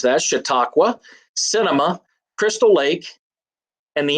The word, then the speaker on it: Chautauqua: That's how you pronounce that, Chautauqua, cinema, Crystal Lake, and the NFL.